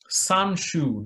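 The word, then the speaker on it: Sun Tzu: a chinese military general his name was sanju that's how they pronounce his name so he was the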